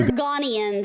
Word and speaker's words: Argonians: But it's also Argonians. I'm sorry I was pronouncing them wrong.